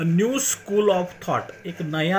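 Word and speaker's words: σχολή: Karl Marx द्वारा एक नया थेसिस, एक नया विचार, एक नई सोच जो आगे आई, उसके ऊपर ये न्यू स्कूल तैयार हुआ।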